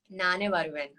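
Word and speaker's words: Naane Varuvean: Can you um, pronounce the name of the film? Nane Varuven.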